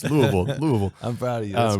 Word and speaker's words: Louisville: You came to Tulsa from Louisville. Yes. Did I say it right? Absolutely. Louisville.